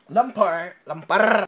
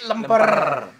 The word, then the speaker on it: lemper: Lemper. Indonesian people say lemper. The pronunciation is lemper.